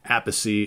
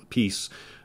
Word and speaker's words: Appice: From what I understand, Appice is the Italian way to pronounce the name. You know, because Vinny, his brother, always went by Vinny Appice, but Carmine very early on started calling himself A Piece.